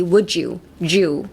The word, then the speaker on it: would you: Would you would be would you, Jew ですね。ちょっと J みたいな発音になります。Pretend you're,ジュースですね。ジュースのジュと一緒です。Would you, Jew ですね。Would you.